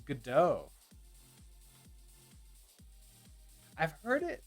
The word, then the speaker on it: Godot: i can't do that the tian godot is silent oh so it's gado i've heard it like